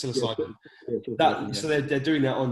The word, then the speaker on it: psilocybin: modified versions of creating i can never pronounce the word silicib silicibin that's it's psilocybin so they're doing that